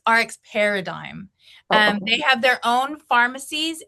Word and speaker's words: RX Paradigm: It's RX Paradigm.